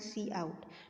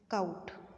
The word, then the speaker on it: cout: output functions, cin and cout. Now don't pronounce it as count. Okay, most of the students pronounce this one as count. This is your cin, this is your cout.